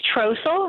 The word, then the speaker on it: Trossel: Did I pronounce that correctly? It's Trossel.